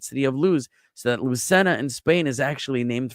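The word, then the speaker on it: Lucena: one was Lucenna and now again he writes it as Lucina but in in Spanish it's Lucenna.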